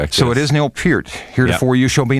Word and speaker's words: Neil Peart: have been known in rock and roll as Neil Per. And I was told that the the real pronunciation is more pert. Is that correct? That's it. That's correct. So it is Neil Pier.